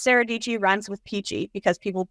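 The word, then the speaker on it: Sarah Dietschy: her videos she always says hey guys it's sarahi ryms with pachy because people mispronounce her last name all the time and because sarahi rhms with pachy is kind of her opening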